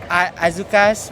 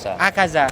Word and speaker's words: Akaza: that movie, the one they drag Azuka's backstory. Akaza. I keep saying it wrong.